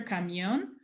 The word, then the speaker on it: camión: There is an audible stress on the O. which any other word that comes after camión doesn't have, because camioneta, the stress is on the E.